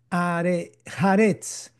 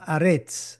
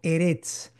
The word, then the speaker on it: Haaretz: cuarta palabra, con la quinta palabra, que es Haaretz, que es la tierra, Aretz. También algunos pueden pronunciarlo como Eretz.